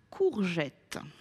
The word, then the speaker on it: courgettes: Il mangeait des courgettes. Courgettes. Ici, donc, la lettre G est suivie de la voyelle E. Elle se prononce J.